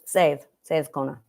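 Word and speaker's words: Seiðkona: So I don't pronounce the R because I went with the majority. So, Seid Kona.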